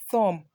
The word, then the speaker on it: thumb: some things to you there are a number of words with silent B in English so we have womb thumb comb climb plumber bomb in all of these words are more the B is silent so you're going to